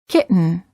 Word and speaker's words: kitten: or written say written don't say kitten or kitten say kitten words for practice certain